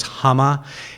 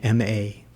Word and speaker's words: Hama: Her name was Hama. It's a Japanese name, and it's spelled just like it sounds, Hama.